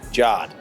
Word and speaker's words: Jod: I introduced myself as, and they all call me Jod. Says. However you would pronounce J-O-D.